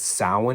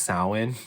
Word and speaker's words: Samhain: It says it's Samhain. It's pronounced Samhain, but this movie mispronounces it as Sam Hain. Like Dr. Loomis keeps calling it Sam Hain, but I think that's